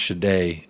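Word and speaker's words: Sade: It's pronounced Shade.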